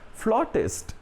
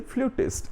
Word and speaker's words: flautist: Flautist, one who plays flute. Don't say flutist, it is flautist. The pronunciation is written here for your comfort in Hindi as well. It is called flautist.